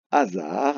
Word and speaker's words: hasard: découvre, il y a le mot hasard avec un H au début, le S qui se prononce Z car il est entre 2 voyelles, et on a la lettre D qui ne s'entend pas, mais que l'on peut